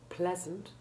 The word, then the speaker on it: pleasant: Important exceptions are breast, pleasant, and all words in which the EA is followed by SURE, like measure, pleasure, and treasure. All these have the short E1 sound.